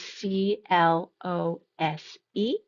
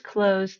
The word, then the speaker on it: close: Please close the door. Please close the door. The second pronunciation just has the end changing to an s sound.